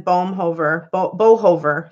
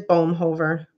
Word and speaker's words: Bohover: Coder, Tammy, and then Bohover. Sorry, man. Bohover. I'm so bad with names. Oh my gosh, I'm just brutalizing it. It's just like, no, it is Bohover. I said it right the first time, and I'm just like,